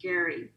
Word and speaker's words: Gerry: whose last name was spelled g-e-r-r-y but it was actually pronounced gary so and they it